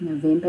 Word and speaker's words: November: So the name of the month, November, is the same in Afrikaans except you say it differently. You say November.